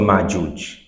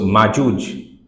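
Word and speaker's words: مأجوج: So Majuj, because of the maf'ul pattern, it becomes Majuj. And for smoothing it out in other languages, they have made it Majuj. And if we don't know, we do pronounce it like that, Majuj.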